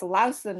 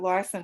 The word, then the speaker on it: Larson: go ahead thank you yes that's the right prince it's lausanne if you're saying it really correctly but larson is how i say it